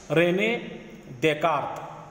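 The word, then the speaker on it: René Descartes: तो सबसे पहले यहाँ पे रेने देकार्त, तो प्रोनाउंसिएशन ध्यान में रखो, रेने देकार्त, इसमें यस और यस वगैरह साइलेंट है, रेने देकार्त।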